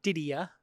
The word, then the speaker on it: Didier: Didier. Spelled Didier. Didier. Mm-hmm. But the original pronunciation, Didier. Didier. That's the French. That's the French. But Australian, Didier?